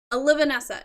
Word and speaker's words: Olivanessa: Olivanessa. No one could pronounce it right. Because you're putting the stress on the wrong syllables, on the wrong letters.